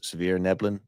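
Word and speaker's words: svirfneblin: I suppose you don't say the F here, or too much of the S, Svirneblin.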